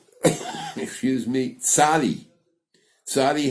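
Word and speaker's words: צדי: letter excuse me sadi sadi has a TZ sense it Saad D and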